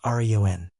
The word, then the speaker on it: Rian: Northern's name, his mother had pronounced as Rian. Rian's name was pronounced Rion.